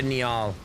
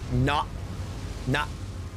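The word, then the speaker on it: Niall: Commander Neal. no. It's pronounced Nyall.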